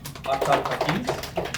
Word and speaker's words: Aftab Hafeez: Aftab Hafeez, is that how you say it?